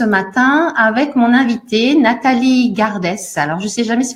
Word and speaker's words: Gardès: Alors, je me suis posé une question, c'est Garde ou Gardès? Parce que la normande que je suis ne prononce pas les dernières lettres des mots. Alors, Gardès.